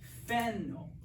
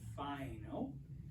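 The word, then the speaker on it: φαίνω: an Angell okay now if you have an alpha and a Yoda next to each other it becomes an e sound it sort of becomes the same as an Epsilon so this word is pronounced feno it's not Fino it's feno apologies those of you that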